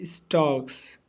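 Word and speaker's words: stalks: अब वो पोएट कहते हैं कि ही स्टक्स ही स्टक्स स्टक्स का मतलब होता है शान से चलना। ठीक है? इसमें एल साइलेंट है इन हिज विविड स्ट्र्राइप्स।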